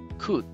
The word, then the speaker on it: could: pasado de cannes cut tenga cuidado de no pronunciar la ele y no decir no la ele es completamente silenciosa así que voy a pronunciar cut couldn't sin embargo es importante escribirla pero a la pronunciación se la voy a quitar veamos algunos ejemplos en